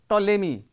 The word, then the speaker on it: Ptolemy: scientist he is called ptolemy and we cannot say a p is not pronounced here we have also some